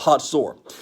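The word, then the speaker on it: Hazor: the most significant city in the north is a city it looks like it's hazel or h-a-z-o-r it's actually pronounced hot sore and the king of hotzor was a man named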